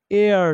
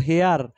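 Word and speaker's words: heir: honourable honourable person honourable person এটা সরের মত উচ্চারণ হওয়ার কারণে এন হয়েছে চার number হি হ্যাজ এন এয়ার নট হেয়ার ইট ইজ এয়ার উত্তরাধিকারী উত্তরাধিকারী ঠিক আছে নট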